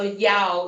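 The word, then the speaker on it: já: tac is thanks so yao is yes so the j is pronounced like a yeah and then the a with the apostrophe is like an ow so yahoo nai is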